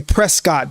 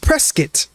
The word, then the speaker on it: Prescott: I mean it's pre a lot of people say Prescott, but it's actually pronounced Prescat.